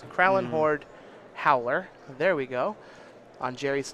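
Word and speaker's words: Krallenhorde Howler: His Duskwatch Recruiter should transform here into a Kralin I can't even pronounce that word. It's Kralin Horde Howler.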